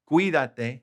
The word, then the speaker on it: cuídate: Cuídate. Accent on the I.